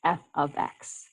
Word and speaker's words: f(x): X this is pronounced F ofx so you kind of pronounce the brackets like the word of f ofx um so